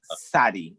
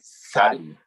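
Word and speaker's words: צדי: By the Kabbalists, Cancer is associated with the Hebrew letter Zadi. I'd assume T silent or Tzadi. Yeah. It's just Sadi. It's pronounced like Sadi. Sadi. Yeah. Kind of like a lisp.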